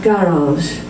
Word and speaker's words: garage: and G for example the word garage the first G is hard got but the second sound is soft there's I think it's